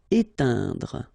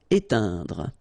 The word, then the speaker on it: éteindre: Éteindre. Okay, keep in mind that when you get this E, I, N together, it will produce the sound un. Éteindre. Okay, don't insist on this final here. Éteindre.